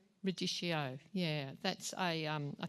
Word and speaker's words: radicchio: Is it ricciardo? Radicchio.